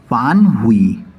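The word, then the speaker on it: 反悔: อยู่ ที่ บรรทัด 110 ฝาน หุ่ย ต้อง ออก เสียง ฝาน หุ่ย เนื่อง จาก ว่า มัน เป็น เสียง เอก เจอ เสียง เอก อยู่ บรรทัด 1668 แปล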